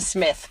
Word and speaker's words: Psmith: I can't help but is Leave It to Smith. P. Smith, like PSMITH. Yeah, that's a great one. The P is silent.